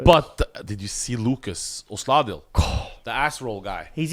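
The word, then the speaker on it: Osladil: So Lucas, how do you pronounce his last name? Lucas Osladl.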